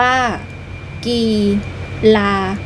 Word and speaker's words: กีฬา: ตอน ที่ 2 ค่ะ กีฬา อ่าน ว่า กีลา หมาย ถึง การ เล่น